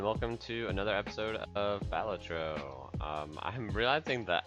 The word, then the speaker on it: Balatro: to another episode of batro um I'm realizing that I think I say it wrong bacho is what I hear a lot of people say and badro honestly sounds kind of dumb but that's how